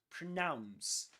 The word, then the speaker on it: pronounce: But pronounce has only one accented syllable. Nouns, pronounce. And pronounce rhymes with the nouns, right?